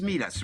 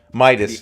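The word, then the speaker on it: MeidasTouch: You say it's Medius, right? Medius. How do you pronounce it? Mediate? No, the Substack, the journalistic group. It's MEIDAS. I think it's Midas. I think it's that. Midas Touch or something like that. Midas. Well, that's MID.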